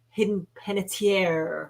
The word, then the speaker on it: Hayden Panettiere: Her name is pronounced Hidden Panettiere.